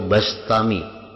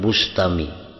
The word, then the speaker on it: Bistami: Yazid Al-Bistami atau Al-Bastami membacanya, Bistami atau Bastami, jangan Bustami. Jadi bi atau ba. Karena dalam beberapa kitab ada yang mendabitkan bi kasril ba, Bistami, ada yang bi fathil ba, Bastami.